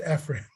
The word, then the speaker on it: FRIB: I know it looks like Frib. It's pronounced Frib.